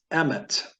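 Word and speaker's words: אמת: me and that's is the Hebrew word for truth and it's really pronounced Emmett so the Annunciation when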